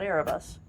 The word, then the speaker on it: Erebus: now explains the name erebus now exactly it does just drop the t and you've got air of us oh there you go